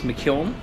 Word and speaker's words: McKeown: Well, you know, most Americans say McKeown. In Ireland, it's McKeown. I don't hold it against McKeown, you called that. You did. You got it right, Mine actually. I said it. McKeown? Yeah, we pronounce every letter.